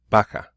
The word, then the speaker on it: vaca: pronounced the same way so you can have the word bacca bacca right sounds like a B but it is a V baka it means cow all